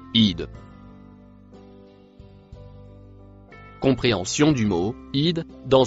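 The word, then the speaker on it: إذ: Le mot en verre se prononce id.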